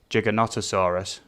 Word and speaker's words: Giganotosaurus: time for class to pronounce gigantosaurus is uh giganotosaurus um yes but if you noticed um uh k fire did to actually spell it gigantosaurus so i didn't pronounce